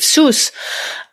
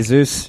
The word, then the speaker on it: Zeus: the channel whereas with Seuss uh so do how how do you say Seuss so the wallet say Zeus yeah Zeus okay thank you because some